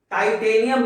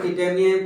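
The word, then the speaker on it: Titanium: टाइटेनियम इसको कह सकते हैं। टिटेनियम कोई बोलता है टाइटेनियम, एक्चुअली में इसका प्रोनाउंसिएशन बेहतर होगा।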